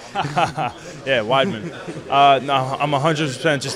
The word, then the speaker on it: Weidman: Launchpad so every single person knows how to pronounce my last name correctly yeah widman uh no I'm 100% just looking at the